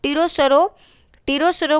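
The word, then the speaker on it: pterosaur: टीरोसरो को इसमें हम लोग ऐसे लिखते हैं, इसका लिखते हैं P से लिखते हैं, PTERO SAWS। इसमें S जो होता है वो साइलेंट, T जो होता है वो साइलेंट होता है।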